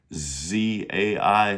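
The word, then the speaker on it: 在: That's our DZ sound. It's pronounced Z AI. Fourth tone.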